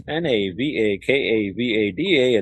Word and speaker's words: Navakavada: That's NAVAKAVADA. It's spelled just like it sounds.